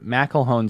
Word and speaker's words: McElhone: She pronounced it McElhone.